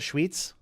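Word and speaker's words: Schwyz: Is it Schweetz? Yeah. Sweets is how I'm going to remember it, but...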